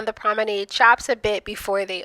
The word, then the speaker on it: Promenade: For the longest time, I have called this the proomenade chops. But the correct pronunciation is prominade weigh in.